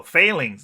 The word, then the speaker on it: Fehlings: So Fehlings, now I can pronounce it correctly, right?